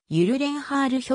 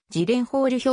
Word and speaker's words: Gyllenhaal: スウェーデン系乳卵ホールの発音はゆる連ハール表記が近いが出身地アメリカでの発音はジレンホール表記が近い日本ではギレンホール表記が定着している米国カリフォルニア州ロサンゼルス